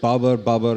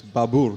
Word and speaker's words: Babur: you that growing up here, we always said Babur, and the Babur Nama, that's how we pronounce his name. But it turns out that's not actually how you pronounce his name. It's Babur.